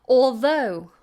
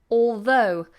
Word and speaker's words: although: minority minority minority fabulous although although with this word although I would say cheat the L don't say all though although it's very difficult